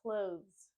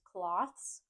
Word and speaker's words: clothes: In Bloom right now the next word is clothes clothes I've heard pronunciations such as cloths which is a different word and clothes let's